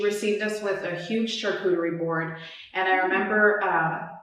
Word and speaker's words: charcuterie: the cheeses yeah um so it's char coo charcuterie yeah yeah and in spanish it's actually called